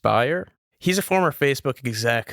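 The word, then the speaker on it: Bier: Yeah, I mean, there's this guy, Nikita, I think his last name's pronounced Bayer.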